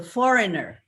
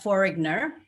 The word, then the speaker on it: foreigner: is very confusing because in for foreigner the g is silent and then in the designated it was silent but actually it was pronounced uh so foreigner not foreigner and designated instead of